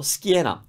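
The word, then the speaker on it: schiena: this one well we said that CH sounds key so we have Kiana and then we just put us before so Skinner Skinner that means back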